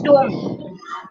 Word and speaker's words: tomb: It is tomb.